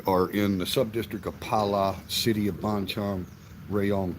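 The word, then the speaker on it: Phala: And so there's sub-districts within the cities here in Thailand, and our district is called Pala. So that's P-H-A-L-A, but the H is silent. So you just think P-A-L-A, Pala.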